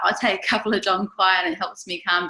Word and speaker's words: Dong Quai: Dong Quai means you don't quai no more. That's how I remember how to say it.